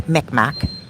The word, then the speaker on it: Mi'kmaq: My native, I'm mixed with native, it's called Mi'kmaq, but some people just pronounce it as Micmac.